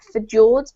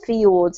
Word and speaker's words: fjords: the English at least we pronounce this word fjords not for jords but fjords as if it were a why but thank you Ahmed